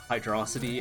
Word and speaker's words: Hydrocity: are stuck in a hydro city zone argument loop for 30 years pronounced it wrong by the way nope there's in the sound test for sonic origins it breaks out hydrocity as hydro city and it's interesting no